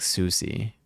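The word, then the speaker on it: SUSY: See, I want to say it like sussy, but it's more like Susie.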